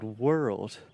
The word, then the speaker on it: world: And then you can add a stress to the second syllable. We're old, we're old, we're old, we're old, we're old, we're old, world. And that just combines together and creates that beautiful RL sound in English.